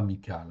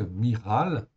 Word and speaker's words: Michal: C'est bien Miral qu'il faut prononcer, non pas Michal, hein?